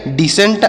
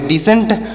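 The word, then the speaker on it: descent: पर सी साइलेंट है डी ई एस सी ई एन टी तो डी ई से पढ़ेंगे डी और एस से पढ़ेंगे श और ई से एक ही मात्रा एन से पढ़ेंगे न टी से ट तो इसे पढ़ेंगे डिसेंट और यहां पर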